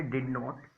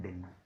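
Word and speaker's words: didn't: डिड नॉट को बोलते हैं डिडन, और इसकी शॉर्ट फॉर्म अगर मैं चाहूँ तो आप बोल सकते हैं डिन। टी यहाँ पर भी साइलेंट हो जाएगा, यहाँ पर डी भी साइलेंट हो जाएगा, सिंपल आ जाएगा डिन।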